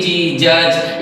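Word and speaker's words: judge: जैसे मैं आपको एग्जांपल के लिए बताऊं एल ओ डी जी लोच जे यू डी जी जज इसके बाद बी आर आई डी G bridge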